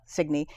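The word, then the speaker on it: Signe: mispronounced my daughter's name my daughter's name is signy Si n e and five times they called her sign so she was in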